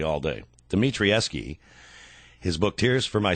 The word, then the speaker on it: Dimitrieski: Dimitrieski, his book Tears for My City, is an